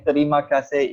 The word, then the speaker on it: terima kasih: Sesiet means thank you, and terima kasih in Malays.